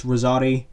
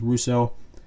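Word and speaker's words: Russoti: Well, in the movie, he's pronounced as Rosati. In the Netflix series, he's pronounced as Russo.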